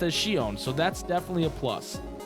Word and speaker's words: Shion: Plus, the female protagonist is named Shion, pronounced as Shion, so that's definitely a plus.